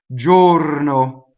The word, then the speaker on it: giorno: Un, UN, giorno, another closed O on a stress, right?